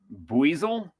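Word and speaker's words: Buizel: Buasel. Sure. It's almost like a weasel, but it's weasel.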